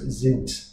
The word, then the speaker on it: sind: Sind, another Z sound at the beginning of the word. Then the T at the end of it, the D, sorry, at the end of it should be a T. So it's sind, sind D, sind D.